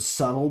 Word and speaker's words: subtle: Don't be Don't be somebody who like literally mispronounces the word subtle because they've only ever seen it spelled and never spoken. And then when you find out the B is silent, you are still going